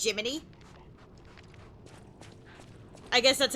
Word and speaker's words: Gemini: Jiminy is uh the little guy attached to my butt. It's spelled like Gemini, but it's spel pronounced Jiminy.